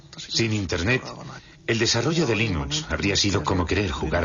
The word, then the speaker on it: Linux: La primera pregunta de la categoría fácil es, ¿cómo se pronuncia Linux? Bueno, yo Linux lo pronuncio Linux. Sin embargo, si fuese Linus Torvalds, no hay duda de que lo pronunciaría Linux.